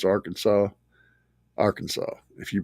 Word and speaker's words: Arkansas: You have to pronounce Arkansas Arkansas.